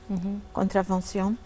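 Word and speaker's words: contravention: حضرتك في مثلا كلمه مخالفه، لما اخد مخالفه مثلا العربيه كونترافونسيون كونترافنسيون.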